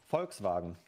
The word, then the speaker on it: Volkswagen: on or like what Volkswagen like you pronounced the V like an F sometimes this is crazy